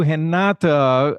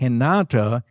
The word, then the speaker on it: Renata: We are excited to have you, Renata. First of all, you can see that I'm pronouncing— I'm making sure that I'm pronouncing her name with the Brazilian accent, because Renata is Brazilian.